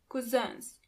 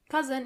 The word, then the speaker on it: Cousins: Onkel und Tanten, 9 Cousins. Do you hear the pronunciation of the last word? Cousin in plural, you have to add a French pronunciation to it.